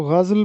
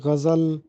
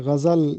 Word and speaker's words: غزل: درست تلفظ بتانا ہے۔ تو اس لفظ کا درست تلفظ ہے غزل۔ بہت سے لوگ اس کو غزل پڑھتے ہیں، جبکہ درست تلفظ ہے غزل۔ غائن پر زبر اور زے پر زبر ہے، غزل اس کو پڑھیں گے۔ سوال نمبر 2 ہے،